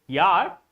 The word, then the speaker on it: yacht: Z, Y or Z, Y for yacht, not yacht or any other pronunciation you may have, but this is yacht, C and H. Both letters are silent.